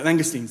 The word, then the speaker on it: langoustines: say the word now no it's Lo it's pronounced or no language yeah langoustines thank you mangocenes are basically what we call